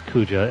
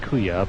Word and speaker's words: Kuja: I'm fairly sure his name is Kuja. If not, his name is probably pronounced Kuya, but we'll go with Kuja.